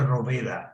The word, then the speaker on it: Rohwedder: Se pronuncia Roveda en alemán.